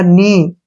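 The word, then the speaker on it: know: ओ डब्लू यहां पर हो गया नो कनो नहीं पढ़ेंगे नो नो नो का मतलब जानना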